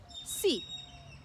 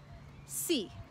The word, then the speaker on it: sí: The word for yes is a one syllable word, but it's emphasized. Sí. Sí. If you see this word without an accent, it's another word. It means if.